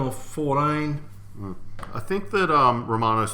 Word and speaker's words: Romano: I think that Romano's spelled with an O. It is. It's Romano, not Raymano.